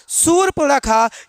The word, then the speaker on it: शूर्पणखा: तो उच्चारण देखा जाए, अगर उच्चारण सही करेंगे तो शूर्पणखा क्या होगा, शूर्पणखा। ये इसका राइट आंसर हो जाएगा, यानी शूर्पणखा।